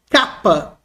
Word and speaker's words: capa: Capa maiúsculo, capa minúsculo, se escreve assim, capa, português dessa forma. Transliteração, K, como na palavra casa. Casa, tá? Não como na palavra acima, não tem som de C cedilha.